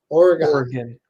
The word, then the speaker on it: Oregon: It's an O. Oregon. O-R makes the or sound.